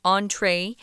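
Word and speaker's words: entrée: about the entree plate the reason why that word entree has that funny line over it is because it's french so it's pronounced entree and that's the entree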